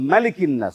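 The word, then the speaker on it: مَلِكِ النَّاس: পড়তে হবে হবে তাহলে মালিকিন্নাস উচ্চারণটা কি হবে মিম জবর মা অনেকে মা টান দেয়া যাবে না ইলাহিন্নাস মিন শাররিল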